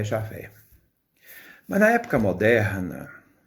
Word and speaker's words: Javé: transformaram-se javé em jeová então jeová não é o texto original é o nome original isto é uma composição que foi feita na tentativa de não pronunciar o nome de deus mas o texto correto para entendermos é javé o tetragrama que deus